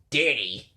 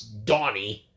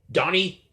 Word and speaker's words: Donny: thought for sure that it was danny like d-a-n-n-y as the most common spelling for danny but no it's donny as in d-o-n donny if you're watching this